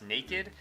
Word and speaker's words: Nakd: a review of this, I guess it's pronounced naked, cashew cookie, so anyways,